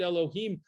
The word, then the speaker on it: Elohim: word elohim there and we pronounce it elohim because uh we use it as a master over pyro look what this air shimshon